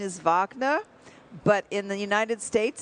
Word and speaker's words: Wagner: And now the German pronunciation is Vagnner, but in the United States it's spelled W A G Ner.